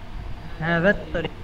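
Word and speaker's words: هذا الطريق: হাযাল তরিকু ওয়াসিউ, হাদা হবে নাকি হাদাত তরিক? এই তো এটা, হ্যাঁ, হাদাত তরিক। হ্যাঁ, এটা তো আলিফ লাম উচ্চারণ হবে না।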